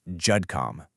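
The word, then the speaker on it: GEDCOM: And yeah, it's pronounced Judcom.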